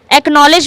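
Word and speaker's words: acknowledge: एकनॉलेज एकनॉलेज में भी क्या हो रहा है? सी और के साथ में आ रहे हैं। इसलिए हम केवल के को ही प्रोनाउंस कर रहे हैं।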